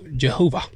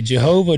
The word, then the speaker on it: Jehovah: course um you know it's spelled with a what looks like a J in Latin but it it's it's supposed to be a y sound but we're English so we started pronouncing it with a J sound so you're telling me